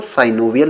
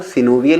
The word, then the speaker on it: synovial: कुछ लोग सिनोवियल joint को साइनोवियल जॉइंट भी पढ़ते हैं। वैसे जो करेक्ट प्रोनाउंसिएशन है दोस्तों वो सिनोवियल ही है। लेकिन अगर आप साइनोवियल पढ़ लेते हैं तो इसमें आपको कोई प्रॉब्लम नहीं होने वाली है। दोनों ही एक्सेप्टेबल हैं।